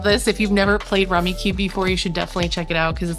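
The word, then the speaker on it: Rummikub: It is pronounced Rummy Cube.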